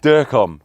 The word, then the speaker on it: Durkom: Durkom. Durkom. That's what I go by. Yeah, I just didn't know how to pronounce it.